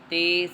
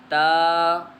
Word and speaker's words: ت: لہجے میں ادا کریں، اردو تلفظ سے پرہیز کریں، یعنی بے، تے، سے، حے، خے، طے، غے وغیرہ ہرگز نہ پڑھیں، بلکہ با، تا، سا، حا، خا، طا، ظا پڑھیں۔ اس مثال کو ہم